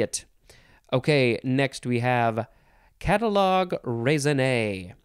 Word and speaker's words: catalogue raisonné: Okay, next we have catalogue raisonné. This has got to be French, right?